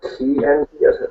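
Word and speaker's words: qi: it is beyond that whether it's Chi energy or ke as I think it's properly pronounced all right I'm getting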